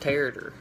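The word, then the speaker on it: tarator: The second food I will be talking about is it's pronounced tartar, and it is a traditional Balkan dish.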